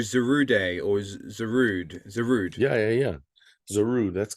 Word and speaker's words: Zarude: anime was um I don't know how to pronounce it was you know the Pokemon movie you're a zero day or is zarud zarude yeah yeah yeah zaru that's good that's right